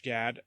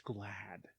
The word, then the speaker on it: Gad: we talked about Josh GAD we by we I mean me mispronounced his name and said that it was Josh glad it's not with an L it's just GAD Josh GAD what if